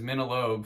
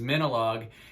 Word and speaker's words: Minilogue: recently that minolog is a combination of the word minimal like minimal music and the word dialogue like an exchange of of words so the correct pronounce pronunciation is minolog and minolog is composed